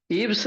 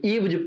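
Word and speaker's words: eyes: ईव्स नहीं पढ़ेंगे, ईव्ज पढ़ेंगे। भी यहाँ ज का प्रोनाउंसिएशन होगा। इसको ईव्ज, आई ड्रॉपर हो गया।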